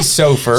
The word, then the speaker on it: Soffer: Oh, you said it wrong. Damn it! It's Soffer.